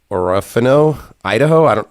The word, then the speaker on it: Orofino, Idaho: It's in Orofino, Idaho.